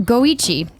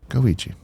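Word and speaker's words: GO1: TG Burt says, Go 1 is actually pronounced Goichi. Ichi is 1 in Japanese. Goichi.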